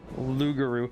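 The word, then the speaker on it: loup-garou: no magic for that lugaroo well it's um specifically the French pronunciation for it's the werewolf it's the French werewolf essentially it's a game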